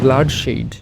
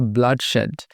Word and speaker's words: bloodshed: Pine said bloodshed, but the word is pronounced bloodshed.